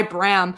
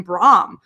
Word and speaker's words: Bram: pronounce his name because originally phil would call him brahm and we're like yeah okay uh and then me and julius would just always call him bram so now it's just bram i mean everybody would call him bram i i looked up and you know most people pronounce the name bram so even though i